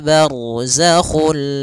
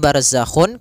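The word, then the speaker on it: بَرْزَخٌ: Barzakhu ra tebal karena ada huruf ra yang sukun didahului dengan fathah.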